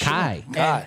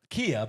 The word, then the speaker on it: Kai: It's Kai. And yeah. I mean, he said it's like Kai Cox, from Newcastle. From Newcastle. But he said so many people call him Kia because of how it's spelled, He just and he answers. doesn't even take time to correct people. I like but that. He said it really is Kai.